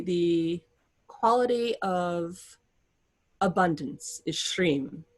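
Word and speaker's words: श्रीं: quality of abundance is shreem sh-r long i m shreem that is the quality of abundance and it belongs to lakshmi as it would and when you chant shreem you're calling upon abundance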